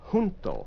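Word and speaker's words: junto: together is hunto. Hunto j u n t o. Remember the Spanish j has an h sound. You breathe on it.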